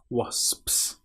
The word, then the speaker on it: wasps: Now, this word is quite hard because you have the O when it looks like it should be a but it is O is the correct pronunciation. And then you've got SP. So, S PS wasps.